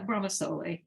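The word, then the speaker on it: Bramasole: Very much like, am I pronouncing this right? Brahma Soleil. Yeah, Brahma Soleil.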